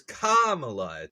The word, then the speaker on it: Kamala: think of Kamala Khan but hers hers is Kamala the the emphasis is on Thea the first